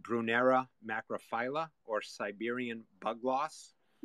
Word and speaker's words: Brunnera: its name next up brunnera or brunera I I hear people pronounce these things so many different ways I don't even know the right way anymore but I call it brunera macrophila or Siberian bug